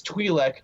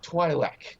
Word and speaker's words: Twi'lek: with a lot of that and he also mispronounces like almost every in universe term you can like it's Twi'lek not Twi'lek it's true like we have dozens of examples